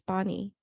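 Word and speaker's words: pani: pain because the Hindi word for water is Barney and that's spelled p-a-n-i so it's just a rearrangement of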